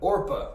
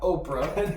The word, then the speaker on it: Orpah: say it for me orpah orpah orpa or not oprah that's not okra or orpah can you remember that orpah i think this is